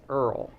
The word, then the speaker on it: IRRRL: that for sure so that is pronounced Earl you know ARL even though it's irrrl okay so the interest